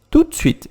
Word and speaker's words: tout de suite: Tout de suite, que eu vou falar assim. Tout de suite, ou tout de suite. Tout de suite, eu vou quase comendo esse D no meio.